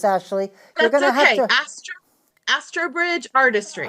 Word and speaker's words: Astrobridge Artistry: from the um as as oh I cannot pronounce this Ashley you're gonna have as Astridge Artistry Astridge Artistry thank you and I'm very eager to talk